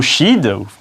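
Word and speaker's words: sídh: Le mot Shid, qui se prononce Shi mais qui s'écrit Shid, a également donné les Sith dans l'univers de Star Wars.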